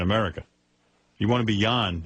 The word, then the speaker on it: Jan: It's pronounced Jan. Jan. Jon. Jan. And by the way, tell Jan it's in this country. Jon is. It's Danish. Well, whatever. This is America, pal. Jan is.